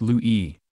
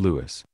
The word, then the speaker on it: Louis: French name sacre bleu lui is pronounced lui rather than Louis but some joked it